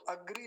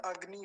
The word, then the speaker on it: अग्नि: में समस्या होती है वो इसको क्या सोचते हैं अग्री लिखा हुआ है अग्री र समझते हैं ग के नीचे तो अग्री नहीं है अग्नि होता है ऐसे वैसे पुराने लोगों